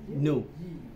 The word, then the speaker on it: new: chữ mới là new Như Mỹ nó không có đọc chữ New mà nó đọc là chữ tôi đọc chữ New nó sửa tôi liền Nó nói nu nó sửa nu nó không có new đó thành ra cái quan